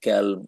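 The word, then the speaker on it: كلب: তো এরকম অনেক আছে কলব ভারসেস ক্যাল কুকুর মানে হচ্ছে ক্যালব আর কলব হচ্ছে তোমার ইয়ে হার্ট অন্তর তো এগুলো কোরআনের অনেক ভাষা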